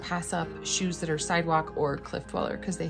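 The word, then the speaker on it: Cydwoq: like a subset of a brand called sidewalk which is spelled crazy c-y-d-o-q or something like that and these retail for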